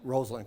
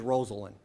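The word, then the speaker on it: Rosalynn: with Eleanor Roosevelt and Rosalind Carter. And while I'm on the subject, it is Rosalind, not like the press still pronounces it, Rosalind.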